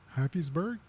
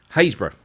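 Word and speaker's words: Happisburgh: um let me just so how do you pronounce this yeah put it up on the screen here we go hburg nope no I know I'm sure it's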